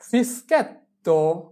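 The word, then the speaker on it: fischietto: তাহলে এফ ই এস ফিস চি আক্কা ই কি ফিসকি এতি এতি ও তো ফিসকেত্তো ফিসকেত্তো মানে বাঁশি। এরপরে যদি এস চি এর পরে আক্কা এ থাকে তাহলে তার উচ্চারণ কি হবে এস চি আক্কা এ এসকে।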